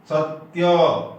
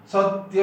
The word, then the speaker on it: सत्य: जैसे सत्य, यहाँ सत ऐसा नहीं बोलेंगे, सत्य बोलेंगे।